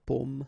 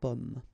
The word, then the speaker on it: pomme: Okay, because in that case, normally it should be a bit lower, pomme, and then here more open, so pomme.